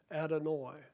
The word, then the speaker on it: Adonai: The word here is Strong's number 0136, pronounced Adonai.